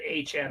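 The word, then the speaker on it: Etienne: He wants to pronounce it Achan. I guess Travis ETN wants to pronounce it Aan. Yeah. You guys aren't talking about the Dolphins guy. Are you Devon Achan? No. No. He said pronounced Achan. heard. That's how his name's pronounced.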